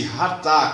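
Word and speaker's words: חטא: os seus detalhes é ratar é o o seu equivalente verbal é ratar pronuncia-se ratar com h aspirado que literalmente significa errar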